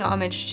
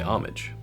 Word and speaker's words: homage: so this is paying homage to yeah oh you say homage I say homage homage homage homage I don't pronounce the H I say oh my